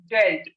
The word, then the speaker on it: dealt: the it please listen this is not deep this is dealt the pronunciation is dealt tell me about the